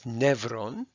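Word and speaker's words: νεῦρον: last video so here we have neuron which in Greek is nevron its combining form is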